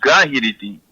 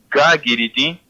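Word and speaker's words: gaguiriti: vale la pena porque otras personas lo han mencionado gahiriti, pero su pronunciación correcta es gagiriti porque lleva una U entre la G y la I.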